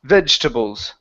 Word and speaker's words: vegetables: word is pronounced vegetables so the E right here in the middle we do not want to pronounce that so instead of saying vegetables it's vegetables vegetables try that vegetables there